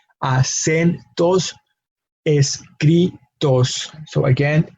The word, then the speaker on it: escritos: Acentos escritos. So again, the emphasis in the word escritos is in that second to last syllable. Cri is where we have our emphasis.